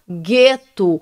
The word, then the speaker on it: gueto: u geto perceba que quando você fala Gueto você não pronuncia o u você não fala Gueto você fala Gueto o g e o